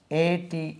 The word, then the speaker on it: ate: ஈட், EAT eat, ATE ate. we have got another pronunciation, et also. இதுக்கு எட்டு கூட உச்சரிக்கலாம், எட். Eight, எட், எயிட்டும் உச்சரிக்கலாம், eight.